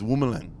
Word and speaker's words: Woomelang: No, it's Woomelang. And I was like, and it's like, no, it's got double O, mate.